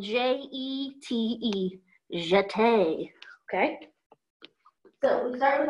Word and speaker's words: jeté: So it's spelled J-E-T-E. Jeté.